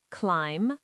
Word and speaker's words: climb: Number three, B after M is silent, climb, lamb, and bomb.